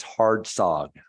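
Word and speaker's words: Hardsocg: it's hard SOG so the C is kind of strange just don't pronounce it and it comes at the end before the G so it's hard soog thank you U thank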